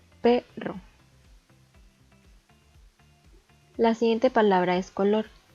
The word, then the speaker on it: perro: Podemos ver que está dividida en 2 sílabas y que la sílaba tónica es P, perro.